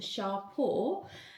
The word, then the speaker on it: Champo: So, this is I'm just looking at the back because it tells you how to actually pronounce the name. It's pronounced shore.